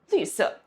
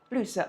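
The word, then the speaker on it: 绿色: Lǜsè. Lǜsè, a new color we learned.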